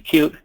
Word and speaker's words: Qt: You may have heard Qt, you may have heard people say Qt. The official way to pronounce it is actually Qt.